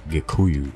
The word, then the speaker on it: Gikuyu: Kikuyu is actually the Swahili pronunciation of the more correct term Gikuyu or Agikuyu, as they call themselves.